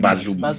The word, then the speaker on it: Bazoum: du président nigérien Bazoum, je crois qu'il s'appelle Mazou, non? Bien Bazoum. Bazoum. Bon, on m'excuse pour la prononciation.